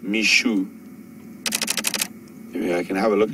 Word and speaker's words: Mixo: kul's uh Offspring and we were calling him mixo apparently our pronunciation is incorrect even though it is spelled Mi EXO it is pronounced Mishu I can have a look at this and